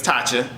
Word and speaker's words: Tacha: LaTacha is her full name, but Tacha is her nickname. So her name is Tacha.